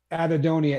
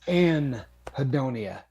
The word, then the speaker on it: anhedonia: sure blue Dazzle bug it is not uh adedonia it is an hedonia like I believe I have no idea how to spell it it's anhedonia um the hedoni I believe